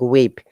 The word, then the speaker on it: whip: the gates very good in whip you know remember w-h-i-p h is silent here it sounds like weep rather than do you have any